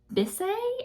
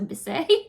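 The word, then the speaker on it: Bissé: Natura Bisse? I don't know how to say it. Natura Bis. It has the little mark over the E, so Bisse.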